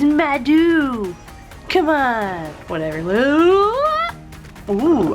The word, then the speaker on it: Maido: gonna be talking about it's not pronounced tomato is madu come on whatever all